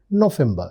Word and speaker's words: November: their November remember the V is generally pronounced pronounced as f that's why their November that is November and their December that is December.